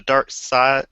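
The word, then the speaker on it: Darkseid: act three of the dark side dark dark side dark side side don't fight the urge to say seed side spell it right and I won't have that urge uh Doug and myself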